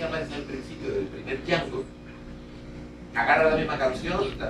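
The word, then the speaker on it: Django: y jango y dice me llamo jango DEA d J a n g o y dice la d no se pronuncia en muda y y este señor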